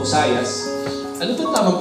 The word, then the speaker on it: Josiah: Ngayon po ang buhay po ni King Josaya o Hosayas. Ano bang tamang pronunciation para hosaya with Suli.